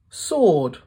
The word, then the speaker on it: sword: it just packed up silent W answer wreath wreck sword wrong right can you think of